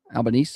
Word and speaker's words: Albanese: How do you pronounce it? Albanese.